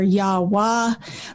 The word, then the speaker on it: Yahweh: with those vowels but scholars are in pretty widespread agreement that yahweh is a decent way to pronounce it some think it's yahoo or yahwah but yeah i go with yahweh because it's the most